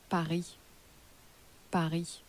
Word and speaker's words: Paris: Paris is pronounced in French how was Paris pronounced Paris Paris and again what was for you in French